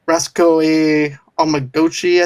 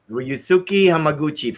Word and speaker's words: Ryusuke Hamaguchi: Then you have Reskoe Omaguchi. I think that's how you say his name. Ryusuke Hamaguchi for Drive My Car.